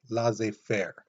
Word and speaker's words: laissez-faire: The other thing is, though, citizens around the country had this laissez-faire attitude, and that's how you pronounce it, laissez-faire.